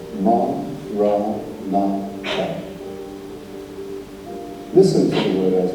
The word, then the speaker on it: Maranatha: If you choose that word, say it as 4 syllables. Ma, Ra, Na, Ra.